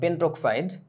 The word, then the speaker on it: পেন্টক্সাইড: Penta বলে না, এটাকে বলে পেন্টক্সাইড, আর এটা হচ্ছে হেপ্টাঅক্সাইড।